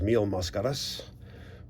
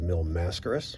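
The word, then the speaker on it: Mil Máscaras: my all-time favorite wrestlers mio mascaras or incorrectly pronounced by the americans mill mascaras either way uh we're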